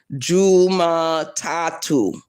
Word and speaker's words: Jumatatu: Today is Monday and Swahili is Juma Tatu. Juma Tatu. The way I'm saying it is the way you would write it.